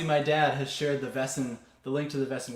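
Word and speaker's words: Väsen: fiddling traditions um and particularly a band called vessen if you don't know vessen really go check them out it's spelled v-a-s-e-n with an umlaut over the a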